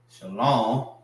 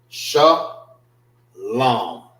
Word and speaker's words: shalom: So shalom is sh. All right. Pronounced by itself and pronounced together. Sha long. All right. Not shalom. It's not shalom and we don't use shalaw in ISPK.